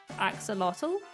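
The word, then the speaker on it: axolotl: an axel lot Axel I've always called him an axolot but some people like pronounce the L at the end axotal I don't think I've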